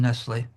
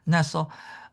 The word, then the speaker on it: Nestle: Nestle uh and she doesn't pronounce her name Nestle. Nestle. Um, she did another point